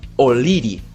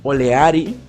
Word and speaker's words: O'Leary: Tenemos a próceres de independencia de Inglaterra como Florencio O'Leary, que se pronuncia O'Leary, no Oleari o Oleri, se dice O'Leary, porque el carajo no era de Socopó, era de Inglaterra.